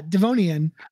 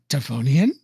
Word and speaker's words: Devonian: Yeah, Devonian. I was just making the connection to your first name. The only difference is I was like, Devonian?